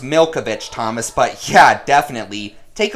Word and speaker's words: Milkovich: Well, it's actually pronounced Milkovich, Thomas, but yeah, definitely.